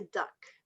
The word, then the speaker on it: duck: Es duck con la K al final.